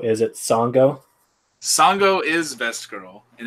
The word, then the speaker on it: Sango: I believe her name rhymes with Mongo. Is it Sango?